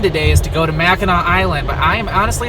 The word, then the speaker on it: Mackinac: Whether Mackinac is spelled with a C or a W, the pronunciation is always the same, Mackinac.